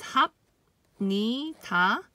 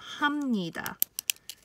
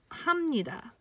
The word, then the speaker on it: 합니다: own is pronounced as hop neat ah but when it's pronounced together it becomes hamnida so it becomes hamnida that's how you pronounce